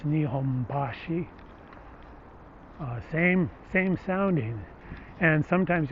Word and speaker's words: Nihonbashi: the nihonbashi is that in osaka you say kansai you say nipponbashi where it's in tokyo it's nihombashi same same sounding and